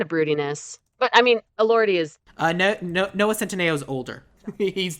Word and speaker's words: Elordi: I really should look up Jacob pronunciations. Elordi. Elordi, okay.